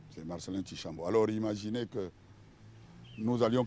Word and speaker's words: Chishambo: écrire le prénom Marcelin, Tchishambo, c'est avec CI, mais ils ont voulu mettre TCH. Bon, ça s'écrit dans certaines provinces de la République démocratique du Congo, mais pas chez nous. Chez nous, Tchi, c'est CI, comme le Tchi latin pour ceux qui ont fait les littéraires.